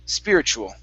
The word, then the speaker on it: spiritual: all right now uh whenever you have a t u and they're paired together like this okay in most cases you are going to pronounce that t like a ch so instead of saying speed uh spirit tool it's spiritual spiritual spiritual just like that